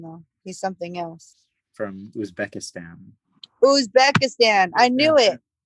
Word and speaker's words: Uzbekistan: he's both yeah okay rhymes rhymes with check in the middle of the word and formerly russian okay